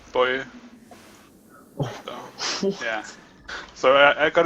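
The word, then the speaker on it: Boje: It's spelled B-O-J-E. And Boji would be, or Boji would be the typical way to pronounce it. But it's actually Boy.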